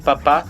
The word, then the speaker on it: papá: pv vai ser diferente na prática nós falaríamos papa tango já november papá ou seja no primeiro penas falaríamos papa e no último apenas falaríamos papá isso ocorre simplesmente por uma questão de comodidade porque seria um tanto incômodo você fazer uma pausa entre o pt eo pv para falar o que corretamente que seria por exemplo o papá tango ou seja pra você